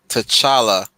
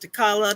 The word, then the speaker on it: T'Challa: gets the name right i've heard takala tashaka nobody in my family says it right and therefore you says